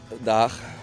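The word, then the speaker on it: Den Haag: How do you pronounce The Hague in real Haags? Daag.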